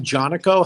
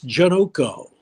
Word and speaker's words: Janoko: I said, "Yeah, Tim Jonaco, how do you pronounce? I saw it was Jonaco." He goes, "It's Janoko like so."